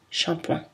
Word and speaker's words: shampoing: Attention à l'exception shampoing, qui est prononcé avec une voyelle nasale. Ce mot a été très adapté au français, shampoing.